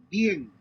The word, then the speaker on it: bien: Concentrate on combining the two vowels into a single syllable in the manner of the native speakers.